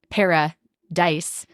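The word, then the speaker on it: Paradice: Honey, para-dice, but it's spelled i c e like ice cream.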